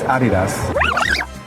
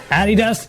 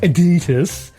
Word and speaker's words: Adidas: So the right pronunciation is Adidas. Adidas is the correct pronunciation, so all of you who are saying ad-ee-tus, you're wrong.